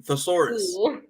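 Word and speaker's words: Tesarus: other members are helix k on voss and thesaurus i i don't think that's how you pronounce it that's his name no you got it right that's his name thesaurus uh and all of them basically turned into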